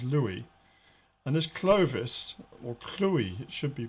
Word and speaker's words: Clovis: and this clovis or chloe it should be pronounced um because a v in latin uh is usually pronounced as a u so this chloe he's